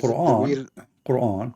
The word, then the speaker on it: Quran: No, is Quran. Quran. Yeah, but the is way an Aramaic you pronounce it in Aramaic, is is it Qur'an?